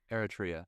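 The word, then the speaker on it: Eritrea: How do you pronounce it? Iria. Eratria.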